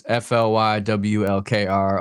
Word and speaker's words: Flywlkr: It's just it's Flywlkr. A lot of people spell it like Flywalker. Like there's no vowels, so just Flywlkr, no vowels.